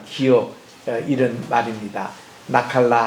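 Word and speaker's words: נחלה: 나칼라 할 때 눈, 그리고 케이트, 라메드, 헤이 이래서 여기 이제 감에서 다 붙여서 나칼라라고 발음하는 이 단어가 신명기의 키워드예요.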